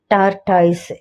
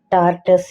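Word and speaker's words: tortoise: உதாரணமாக இந்தியாவுல ஒரு வார்த்தை இருக்கு ஆமை சொல்லுவாங்க இல்லையா இங்கிலீஷ்ல டார்டாய்ஸ் எல்லா இடங்களிலயுமே அதையே வந்து சொல்றாங்க நாமும் கூட அதை சொன்னோம் ஆனா அது தவறான உச்சரிப்பு டார்டஸ் என சொல்லுவாங்க டார்டஸ் அதுதான் இந்திய மாஸ்டர்கள் இல்லையா ஆகவே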